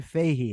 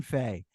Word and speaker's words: Fahey: Stephen Valiant and Warren Fahey am I pronouncing it right hey just simple Faith hey Warren Faye right what a fascinating topic